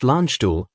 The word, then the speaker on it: Landstuhl: Supported by a critical care air transport team, known as CCAT-T, from Landstuhl Regional Medical Center, pronounced Landstuhl, and a field ambulance unit from the U.S.